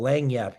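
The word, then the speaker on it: lagniappe: It's what we like call lang yap here in Louisiana, which is just something extra.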